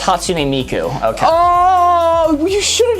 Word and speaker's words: Hatsune Miku: Oh, it's pronounced Hatsune Miku.